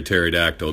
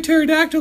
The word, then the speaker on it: pterodactyl: Why can't you hear a pterodactyl going to the bathroom? Meow, you can't hear a pterodactyl going to the bathroom because the P is silent.